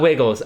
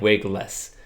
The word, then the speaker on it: Wiggles: But he said, yeah, it is pronounced like Wigless.